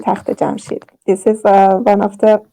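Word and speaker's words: تخت جمشید: And we call it in Farsi Takht Jamshid.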